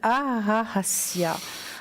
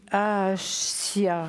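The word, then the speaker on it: Hahasiah: Alors, il s'appelle Ahassia. Alors, ça s'écrit H-A-H-A-S-I-A-H. Et l'ange gardien des personnes nées entre le 3 et le 7 décembre. Ahasia. Oui, Ahassia.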